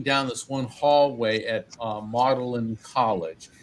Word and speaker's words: Magdalen: Yeah, and I remember walking down this one hallway at Magdalen College. It looks like it's spelled like Magdalene, like Mary Magdalene, but they pronounce it Magdalen.